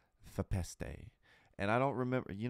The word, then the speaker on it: Fepeste: The correct way to pronounce their name is Fepeste. Fepeste. It kind of sounds like a pasta, sort of. Fepeste. Fepeste.